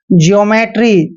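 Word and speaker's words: geometry: जैसे देखिए ई का उच्चारण ई ही करना है और ओ का ओ करना है। जैसे जियोमेट्री, जियोमेट्री में क्या है, ई के बाद ओ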